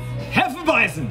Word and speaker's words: Hefeweizen: Producción, pronuncia bien. Hefeweizen.